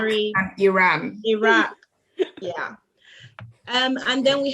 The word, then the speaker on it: Iraq: potato potato or like instead of a root oh iraq and iran i'm sorry americans but it's iraq and iran iraq yeah um and then